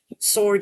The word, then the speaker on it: sword: Uh, wreath has a silent letter. Silent W, I should say. Specifically, sword as well. Rap. Play right. So, those are silent W's.